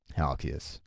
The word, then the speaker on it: Halkias: advice how do you say his last name halkias halkias mm-hmm okay about ladies like he's like